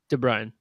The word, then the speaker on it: DeBruin: DeBrian. DeBruin. DeBruin. DeBrian. That's a U, not an A. Yeah. DeBruin. The U is silent.